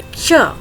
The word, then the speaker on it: क्ष: क्ष, कई लोग इसे छ उच्चारित करते हैं, जो कि पूर्णतः गलत है।